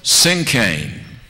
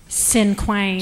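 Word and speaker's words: cinquain: Sincane. No. Nope. Sinquain.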